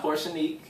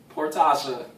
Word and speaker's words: Porsha: together one two three poor portia phonetically yeah it's not portion portasha ocean that's a cute